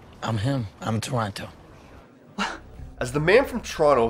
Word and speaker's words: Toronto: characters within the movie pronounce the city name with a hard second t who's a man from toronto sandra bullock in the